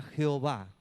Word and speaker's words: Jehová: El nombre original de Dios, la pronunciación se perdió. Y los judíos, para que se pueda pronunciar el nombre, le agregaron las vocales hebreas de Adonai al tetragramatón, que es JHWH, imposible de pronunciar, para que quedara Yahvé o quedara Jehová.